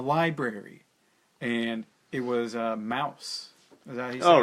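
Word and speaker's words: Maus: and it was a mouse all right yeah yeah yeah it's spelled weird but it's just pronounced Mouse yeah that was the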